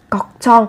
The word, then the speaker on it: 걱정: 걱정 ở đây các bạn chú ý về cách phát âm, gấp đôi phụ âm chờ lên 걱정.